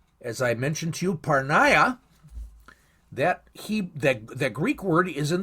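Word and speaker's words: πορνεία: Fornication in the English is the English for the biblical Greek word parneia. Some people pronounce it porneia. It's not. It's parneia.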